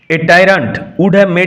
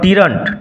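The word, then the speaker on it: tyrant: কারণ ডেসমোনার এই আচরণ উড মেড টাইন্ড মেমটা। উচ্চারণ লক্ষ্য করো। নট টিন্ট টাইন্ কারণ ডেসডিমোনার এই আচরণ তাকে একজন অত্যাচারীতে পরিণত করত।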